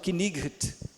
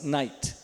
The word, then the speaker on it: knight: Então, hoje não se fala knight. Se é que falava assim, né? Não sei. Mas o fato é que agora se fala assim, night, e aqui fala bo, ok?